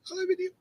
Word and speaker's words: aluminium: Aluminium. Well, that's how you're supposed to say it, because that's how you're supposed to spell it.